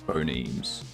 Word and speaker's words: phonemes: But yeah, thing is pronounced to rhyme with promemes. Phonemes.